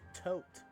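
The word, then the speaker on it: Thoth: in in Egypt mythology is not pronounced tho it's pronounced tote yeah however is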